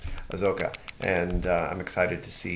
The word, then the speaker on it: Ahsoka: Ahsoka. Ahsoka.